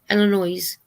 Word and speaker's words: Illinois: Illinois. And I like the way Cindy from Pups and Crochet says Illinois. She doesn't pronounce it with the S, I don't think.